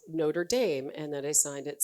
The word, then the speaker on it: Notre Dame: Um, I wrote him back and I said that indeed I was using the commonly anglicized pronunciation of the school. It wasn't Notredam, it was Notre Dame.